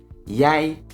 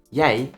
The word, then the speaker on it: jij: But pay attention because je and jij, as you can hear, are pronounced differently, and the difference in pronunciation matters.